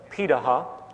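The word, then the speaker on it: Pirahã: the world such as the pitaha which is how it's pronunciated out of brazil amazingly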